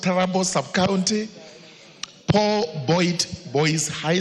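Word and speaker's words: Turbo: Trubo sub-county, it's pronounced Tarabo sub-county, Paul Boyd Boys High School at 8 a.m.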